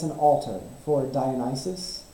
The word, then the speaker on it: Dionysus: an alternate for it Dionysus I believe is how you say it or Dionysus or something so we're going to